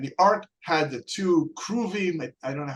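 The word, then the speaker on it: כרובים: guess that would be, is that cherubim in Hebrew? Yeah, kruvim. Okay. Right. Kruvim comes from the karuv, which means to be close to God. So you had the two kruvim, forgive me.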